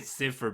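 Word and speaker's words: Cifer: I would say cipher because it's freaking Japanese, where they kind of pronounce it like it's spelled. Sometimes.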